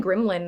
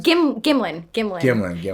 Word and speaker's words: Gimlin: Patterson Gremlin, I think it's pronounced. Gremlin, like Gremlins? Gimlin.